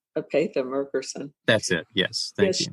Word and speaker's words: Merkerson: Esa Mccerson. Isn't that how you say her name? Atha Merkerson. Yes. She was really good. Actually s Apea Merkerson.